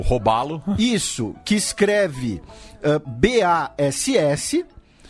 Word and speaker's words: Bass: Na verdade, né, pronuncia Bass, né?